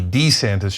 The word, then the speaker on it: DeSantis: And it seems like it's because his wife doesn't want him to be Dee-Santis, she wants him to be DeSantis.